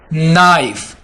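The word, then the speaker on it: knife: Bike, bike, नाइफ, यहां पर हम इस वर्ड को नहीं लेंगे क्योंकि यहां पर केस साइलेंट होगा, ठीक है।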